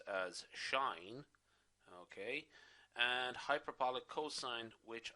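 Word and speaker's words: sinh: two hyperbolic functions the hyperbolic sine or general pronounced as shine okay and hyperbolic cosine which are going to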